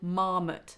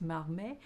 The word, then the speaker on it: Marmet: So if you haven't had much luck with hand expression yet, go to the internet, Google marmot technique. It's actually pronounced marmet, but M-A-R-M-E-T, marmot technique.